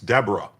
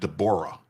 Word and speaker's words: Deborah: Maryland US District Judge Dborah Borman, and you might think it's Deborah, but she pronounces it Dborah, a n a Biden appointee, is a national disgrace.